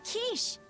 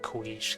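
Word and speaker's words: quiche: I'll make you a kiche just the way she taught me. I used to pronounce it quish because I had no idea what the quish was.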